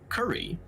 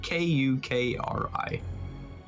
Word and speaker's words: Kukri: his gun to his curry. I think that's how you pronounce him. And he's trying to slash you. Who is Curry? It's C. No, it's not. It's Kukri. Oh, Kukri. Oh, It's a Kukri.